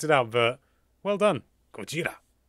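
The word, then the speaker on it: ゴジラ: out but well done Gojira that's the Japanese pronunciation of Godzilla I think just make sure I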